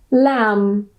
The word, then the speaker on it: lamb: it's in the middle, the B at the end is silent and we just pronounce the M.